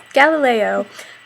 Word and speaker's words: Galileo: a while but there's something to shoot for Galileo H yeah you said it right that time